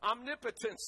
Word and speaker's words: omnipotence: Omnipotence, though, is how it's pronounced.